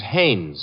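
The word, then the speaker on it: Haines: No, no, no, not Hines. Hannes. Couldn't be. Honeyberg. No, it couldn't be. The name is Hannes.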